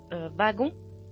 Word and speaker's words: wagon: For instance, in the word wagon, wagon, it is pronounced as a V in France and Canada, but as a W in Belgium, wagon, wagon in French.